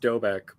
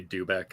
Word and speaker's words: Doubek: over um but so it's pronounced dobek but people almost always say do back and I just stopped